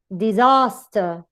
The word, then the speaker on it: disaster: However, in words with a weak first syllable, the stress comes to the next one, to the middle syllable.